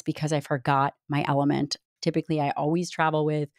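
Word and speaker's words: LMNT: Thank you to one of our sponsors, and that's Element, spelled L M N T but pronounced Element.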